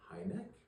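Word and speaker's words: Hynek: And then we even had a visit by uh Highneck. Okay. Famous guy. Hi neck. It's high neck.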